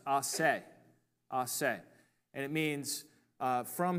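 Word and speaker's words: a se: It's pronounced "asse," "asse," and it means from himself.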